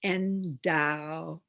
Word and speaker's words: endowed: The ed at the end of endowed is not a separate syllable, despite the fact that the e is there. It's endowed. So the ed represents one sound, d.